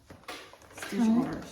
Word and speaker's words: Stitchora: Stitchora? Stitchora. Stitchora.